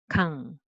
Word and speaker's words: 강: So 그 plus 아, 가 and ng. So 응 underneath, 강.